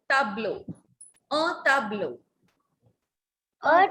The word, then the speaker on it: tableau: Not tableau, it's tableau. Un tableau.